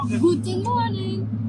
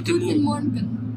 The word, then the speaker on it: Guten Morgen: Guten morning. Is it guten morning? No, sorry, it's guten morgen.